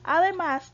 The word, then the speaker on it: además: otro ejemplo sería además además tiene la sílaba tónica en la última sílaba verdad en la última posición ok y además se